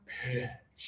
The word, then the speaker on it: pitch: High tongue, just a little air, peach. peach And then low tongue and breathe out to throw a ball, pitch.